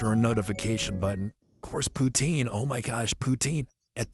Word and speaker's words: poutine: It's like, yeah, I had the kale poutine smoothie. It was delicious. Yeah. Poutine. I know some of you pronounce it poutine, but you're still saying poo.